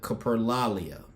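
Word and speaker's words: coprolalia: The behavior be the behavior people commonly associate with Tourette's uncontrollable swearing is called capro I'mma mispronounce it caprolia only about 10 to 15% of people with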